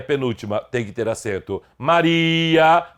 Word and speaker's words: Maria: Maria, sílaba tônica é o I, não tem acento.